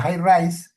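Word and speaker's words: HiRISE: No, porque el telescopio más grande que hay en Marte es la cámara, se escribe IRISE, la High Rise, es una cámara que tiene 50 centímetros de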